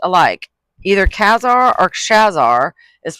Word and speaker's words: Khazar: Either Khazar or Khazar is pronounced like the first syllable of costume with the word zar added to it.